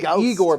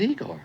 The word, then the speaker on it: Igor: they are an eye now it's pronounced I go but they told me it was Igor well they were wrong then weren't they indeed I'm